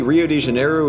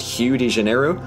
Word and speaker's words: Rio de Janeiro: make very little sense apparently Rio de Janeiro is supposed to be pronounced hugh de janeiro and to that i